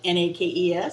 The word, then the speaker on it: NAICS: ax code nay x nakes how do you how do you say it anyway naic what is a nex code well basically and it's snakes okay kind of like nakes snakes and it's how the